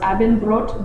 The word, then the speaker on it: Abendbrot: And dinner is pronounced Abendbrot, brot meaning bread, and it's served with sausage,